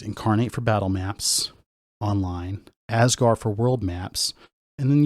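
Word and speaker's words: Azgaar: what's with asgar and it's not Asgard as in asgar whatever that's whatever that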